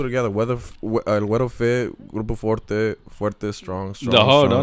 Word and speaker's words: Grupo Forte: So sometimes people say Grupo Fuerte, like they call me like, "Hey, is this Grupo Fuerte?" I'm like, no, it's Grupo Forte. I say it like I exaggerate it.